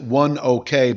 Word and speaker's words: ONEOK: One is I want to pronounce it one OK, but it could be Oneok. The symbol is OKE.